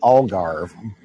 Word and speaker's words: Algarve: I've heard it pronounced a couple of different ways. Okay, so the region is called the Algarve.